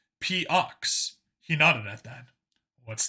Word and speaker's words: POX: On the back, the armor said, P-Ox.